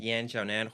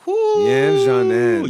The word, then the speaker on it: Yan Xiaonan: Yan Xiaonan. Yan Xiaonan.